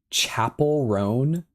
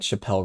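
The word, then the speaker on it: Chappell Roan: Also, Chappelle is pronounced like chapel. Oh, really? Chapel ran. Now I feel like an absolute fool. Chapel ran. I like Chappelle Ron though.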